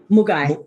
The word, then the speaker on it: Moogai: I wanted to ask you both before we get into the movie and forgive me if I'm pronouncing it incorrectly though. It's the Mugai, right? Mugai.